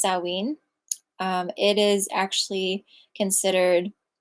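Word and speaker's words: Samhain: holiday uh sinen it's spelled it looks like Sam hay but it's pronounced saween um it is considered like a basically a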